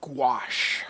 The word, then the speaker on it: gouache: that so I took a look and it's pronounced gouache so I was all off so he uses